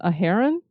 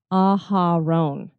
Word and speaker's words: Aharon: I had said that I thought maybe it was a heron, because it kind of looked like Sharon with an A, but it actually is Aharon.